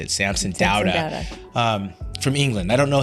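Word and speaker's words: Samson Dauda: You know, I think we have 19, including the latest Samson Dowda, that's how you say it, Samson Dowda.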